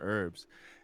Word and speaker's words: herbs: yeah I bought some herbs and she's on like herbs why don't you pronounce the h in herbs I felt like it